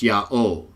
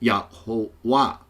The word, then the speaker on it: Yahuwah: But I believe originally it was pronounced Yah-O, and eventually it became pronounced Yahuwah. and was also pronounced Yah or Jah, like we read in Exodus 15.